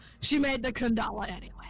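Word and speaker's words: けん玉: say she made the kendama kendama best accessory okay it's pronounced the the Japanese way yeah okay so Sokka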